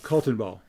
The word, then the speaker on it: Kaltenbaugh: So it's Kaltenbaugh. Oh, yeah. And how do you pronounce it? Kaltenbaugh.